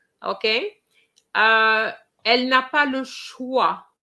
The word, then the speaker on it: choix: Okay, elle n'a pas le choix. I know there's an X there, but it's silent.